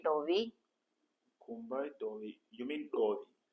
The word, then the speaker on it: dovi: Not Dovi. Is it Dovi? Dovi. Dovi. Dovi. That's what you are saying, and also that's what I'm pronouncing. You're saying do. Do. So do. There's an H. Do. It's Dovi. Dovi.